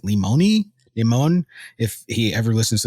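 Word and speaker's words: Lemoine: I believe his name is pronounced Limon.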